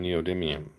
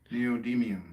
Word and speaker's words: neodymium: Are you using neodymiums? Yes. How do you say that? Neodymium.